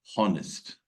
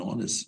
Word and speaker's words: honest: people pronounce this word honest which is wrong here H look at the cursor H is mute it is silent it is not pronounced it is not accented